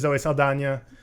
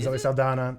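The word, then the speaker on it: Zoe Saldaña: cast is Sam Worthington Zoe Saldana Sigourney Weaver and Cate Blanchett as well as others cam it is Zoe Saldana it's not Zoe Saldana yeah it has an end yeah that's as pronounced and I also watched a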